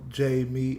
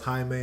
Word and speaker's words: Jamie: Okay, so Jamie. Okay, so it's Jamie. Okay, got you. I was just making sure because I know some people pronounce it as Jaime, and I'm like, I